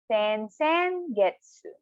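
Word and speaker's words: 先月: So for next month, 2 months before, sen getsu. Again, sen getsu. So one time again, slowly, per syllable, sen getsu.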